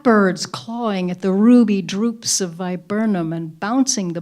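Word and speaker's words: drupe: think about writing and the word droop which is in the first line is spelled d r u p it's not the verb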